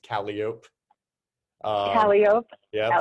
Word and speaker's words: Calliope: Like Calliope is pronounced Calliope.